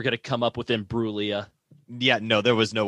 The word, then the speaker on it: Imbruglia: Like you were going to come up with Imbruglia. Yeah, no, there was no way I was going to come up with Imbruglia. Silent G and everything.